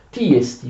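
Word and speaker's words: τί ἐστι: Tiesti, ve lo scrivo anche in greco. Questa è la pronuncia corretta.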